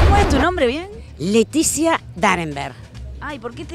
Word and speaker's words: Laetitia: la O es todo lo mismo e se pronuncia bueno es brava la e titia no lo dije bien Leticia bueno la de titia no no la es nada Leticia Leticia vos sos realmente la hermana de piñe